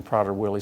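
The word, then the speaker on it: Prader-Willi: of people may have just heard the name Potter Willie syndrome for the first time can you tell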